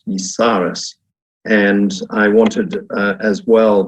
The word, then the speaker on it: Yisares: at your Autumn school which I understand is pronounced visares and I wanted as